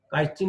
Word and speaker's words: chitin: প্রাচীর বা অন্তঃপ্রাচীর কাইটিন, এখানে মূলত ইংলিশ কাইটিন বানানটা ছিল এমন হয়ে গেছে আর কি, CHITIN, কাইটিন নির্মিত শক্ত আবরণে আবৃত।